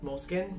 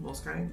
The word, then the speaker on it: Moleskine: soft cover moleskine notebook um moleskine most kind it's spelled moleskine but i say both moleskine i prefer a